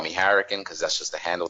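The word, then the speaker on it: Hurricaneger: here like English but the way they pronounce it is like they pronounce hurricane as Harrigan you know I'm saying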